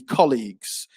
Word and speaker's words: colleagues: You talked about, you said colleagues, but it should be colleagues. So stress on the first syllable there.